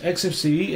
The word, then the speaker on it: Xfce: XFC pronounced as four individual letters is a free and open source desktop environment for Linux and other Unix like operating systems. XFCE aims to be fast